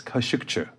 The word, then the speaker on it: Khashoggi: by the way you if they want to pronounce it right it's kashika K okay uh it